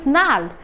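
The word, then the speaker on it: gnarled: father's null disease here g is silent and the word is the pronunciation the diction of the word is nald and a-r-l-e-d so nald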